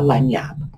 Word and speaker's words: lagniappe: And it's an interesting word because the word lanyap is actually Spanish, which is why it has a Spanish spelling. And the reason it has a French pronunciation is we got it through the Cajun Creole French of Louisiana, which has a lot of Spanish influence.